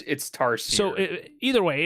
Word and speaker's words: Tarsier: First one, I don't even know how to say it. It's Trazer, I think. Trazer Studios. I think it's here. Let me look it up. So it's spelled, or it's Tarsier Studios. Yeah, I think it's Tarsier.